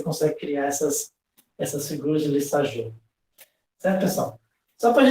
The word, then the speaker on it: Lissajous: Lissajous, né? É francês, né? Não sei falar muito bem francês, mas aqui parece com o Diju, né? Do Labela Diju, né? Se pronuncia do mesmo jeito, é Lissajous, né?